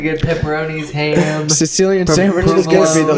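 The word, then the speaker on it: Cillian: Cecilian Murphy, or oh, it's not Cecilian. It's Sicilian. I He's thought a it was fucking sandwich.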